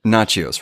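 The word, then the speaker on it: Natchios: Nachios. Nachios, right?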